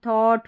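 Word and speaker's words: thought: तो क्या होगी spelling, bot, थॉट, fraught, ड्रॉट, और यहाँ पर है साई लाइट, ये है एट, ई आई जी एच टी, ठीक है, इसको एट पढ़ेंगे।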